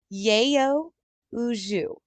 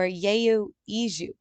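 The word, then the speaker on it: 여의주: Yayo Uju or Yayo Iju. Yayo Iju. We're going with Yayo Iju, which fall from the sky.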